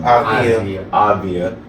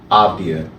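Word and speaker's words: Avdija: Avdia, thank you. Avdia? Avdia. Alright, bet. Avdia.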